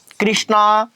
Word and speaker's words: कृष्ण: काय सावळा बरोबर आहे मग आता याचा उच्चार ऋषीच्या ऋ सारखा करायला पाहिजे पण बरेच लोक हिंदी